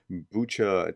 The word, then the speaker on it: Bucha: she was saying like the reason that they chose bucha to create these phony pictures is because it sounds phonetically like butcher and like she's kind